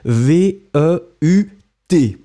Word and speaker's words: veut: form that we have, V-E-U-T, you don't pronounce it, but still it should be there, so elle veut, then